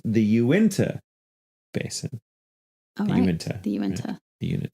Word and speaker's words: Uintah Basin: refer to the area of Utah as the unity basin it is actually pronounced the Uintah Basin I meant the Aventa unit not the unit